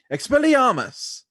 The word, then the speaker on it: Expelliarmus: So- To say it completely right, you have to say it with slight accent. Expelliarmus.